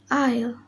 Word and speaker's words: isle: The letter S. Rule: S is not pronounced before L in the following words. Example: island, isle, ale, islet, and viscount.